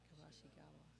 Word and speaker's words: Kabashigawa: Hawaii, you do all your vowels. Every vowel is pronounced. Kabashigawa.